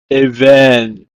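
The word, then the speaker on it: אבן: In Hebrew, it's pronounced as even.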